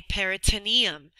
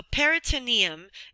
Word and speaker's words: peritoneum: different name we don't say pericardium we say peritoneum so peritoneum is spelled p e r i so peritoneum t-o-n-e-u-m